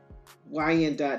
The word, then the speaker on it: Wyandot: Two tribes are federally recognized in the United States: the Wendat Nation in Oklahoma and the Wyandot Nation of Kansas. Both of them are pronounced Wyandot, Wyandot Nation of Oklahoma and the Wyandot Nation of Kansas.